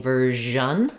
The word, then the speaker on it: version: this one continues so if I'm saying ver I want that same sound continuing sound like in measure and ver this one